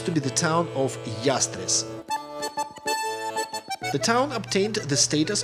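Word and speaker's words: Llastres: through double l and according to the rules of the spanish phonetics it should be pronounced as yastres and actually that's the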